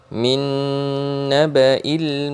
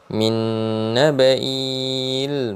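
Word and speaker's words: من نبإ: Jadi bacanya min naba, bukan min nabai, dan lain sebagainya.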